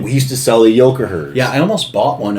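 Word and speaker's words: Yocaher: Do you remember the Yokoher aluminum decks? Oh, Yoshire? Yokoher is what they're called. Oh, that's how they're actually pronounced? Yeah, it's Yokoher. I thought it was Yoshire. No, it's Yokoher.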